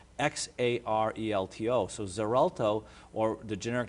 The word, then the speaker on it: Xarelto: this drug is called Xarelto it's it's pronounced with a z sound but it's spelled with x x a r e l t o so Xarelto or the